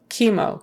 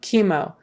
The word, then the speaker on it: chemo: um let's see chemotherapy chemo chemo that CH is not a CH sound even though you would think it would normally be